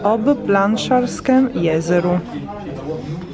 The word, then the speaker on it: Ob Planšarskem jezeru: E questo è il nome, si pronuncia ob planšarskem jezeru.